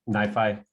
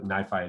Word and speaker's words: NiFi: two different things um nifi at least that's that's how i pronounce it um so nifi is